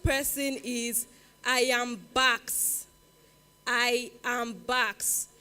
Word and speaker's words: IAMBAQX: I am Bax. It's spelled IAMBAQX.